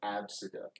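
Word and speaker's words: Abcde: Pronounced Absida.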